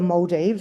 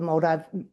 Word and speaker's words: Maldives: And he said to me, it wouldn't matter what I said, the Moldes or the Moldive, they would both be acceptable.